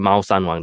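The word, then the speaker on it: Mao Shan Wang: Then there's something called Mao San Wang. Okay, it's a Chinese pronunciation. Mao San Wang.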